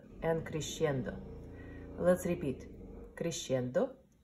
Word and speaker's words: crescendo: gimme no ENTER and Christian de let's repeat crescendo diminuendo let's do it again so first I will pronounce and then you go pronounce it crescendo diminuendo so Christian that means getting louder and